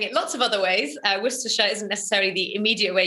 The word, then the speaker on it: Worcestershire: names and place names if you're from the uk you know that you say this worcestershire if you're not from the uk you'd be forgiven in saying it lots of other ways worcestershire isn't necessarily the immediate